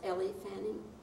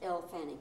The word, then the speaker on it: Elle Fanning: I didn't ask you this, but isn't Ellie, is it pronounced Ellie Fanning? Elle. Just Elle Fanning.